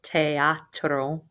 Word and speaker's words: teatro: Pronounce every letter in that word. El teatro.